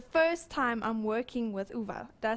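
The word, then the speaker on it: Uwe: Oh, I'm so excited, we are here doing business studies and this is the first time I'm working with Uva.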